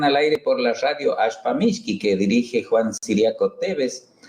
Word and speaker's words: Ashpamishki: ¿Cómo les suena ese Ashpamishki? ¿Les suena así? Shh. Bueno, sí, tienen razón. Se escribe con SH. Así nos vamos entendiendo. Así, igual que como el signo que tiene una marca de combustibles, así. Ashpamishki.